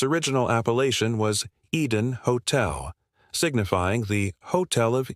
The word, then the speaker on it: Eden: If an accent were present, it would be phonetically rendered as Hotel Aden. However, its original appellation was Eden Hotel, signifying the Hotel of Eden, a place intended to evoke paradise.